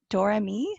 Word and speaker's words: Doremy: my newest dolly friends this is menon of dorami right is that how you pronounce the shop name yep okay and first